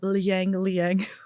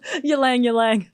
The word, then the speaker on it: ylang: Or a little bit liang. What is that? Yeah, it's ylang, but it's just fun to mispronounce.